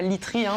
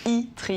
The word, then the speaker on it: Itri: Alors pas Litri, mais Itri. Oui, c'est vrai que ça se lit mieux que ça ne se prononce.